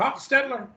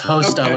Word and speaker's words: Hochstetler: Hochstetler? Did I say that right? You're close. It's Hosteller. Okay. The C and H are Hochstetler, silent.